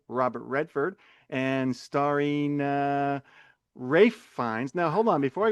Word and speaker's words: Ralph Fiennes: I never knew that because when you say it Rafe finds, the F kind of blends into the F. So it's like it sounds like he's saying Rayines. Fines. So yeah, starring Rafe Fines.